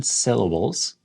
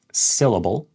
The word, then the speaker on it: syllable: So we want to emphasize the correct syllable within the word.